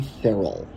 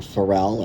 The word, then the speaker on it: Farrell: And then of course, our young superstars glossy cards series one of John Farrell. Or Ferrell, I've heard it pronounced either way.